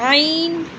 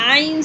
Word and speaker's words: عين: This is a ain sound. Ain is a vomit sound.